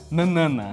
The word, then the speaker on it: Nanana: Exato, a gente recebeu informação aqui no ponto, né, Larissa, de que o nome correto é Nanana.